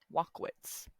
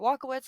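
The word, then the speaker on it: Walkowicz: I'm going to try to pronounce it. Walkowitz. W-A-L-K, walk. O-W-I-C-Z. We're going to... Yeah, we're just going to pronounce it that way.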